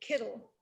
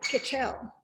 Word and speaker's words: Kitchell: It's spelled exactly the same way, but one family pronounced it Kittle, and our family pronounced it Kitchell. And I was forever being called Kittle, and even in my high school yearbook, it says, "My name is Kitchell, not Kittle."